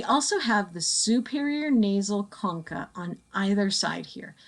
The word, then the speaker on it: concha: We also have the superior nasal concha on either side here. Remember that whenever you see CH in anatomy terms, it sounds like a K.